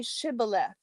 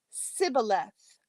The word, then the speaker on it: Shibboleth: When he said no, they said to him, "Then say Shibboleth." And he said Sibboleth, for he could not pronounce it right.